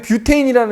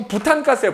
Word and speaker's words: 뷰테인: 알콜이다 그 다음에 옆에 뷰테인이라는 애 보이지 자 우리 옛날식 발음을 이거 부탄가스예요 부탄가스 휴대용 가스레인지에 들어가는